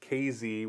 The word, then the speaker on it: Casey: It's the closest town is KZ, which is spelled Casey, but if you say KZ, then they'll know you're legit when you go down there.